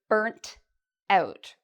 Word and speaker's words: burnt out: Okay, so I just taught you the word burnt out with a t sound at the end. This is a very British or Canadian pronunciation.